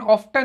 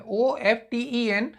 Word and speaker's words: often: OFTEN, ऑफ्टन नहीं होता है, OFTEN। इसमें जो टी है वो साइलेंट है।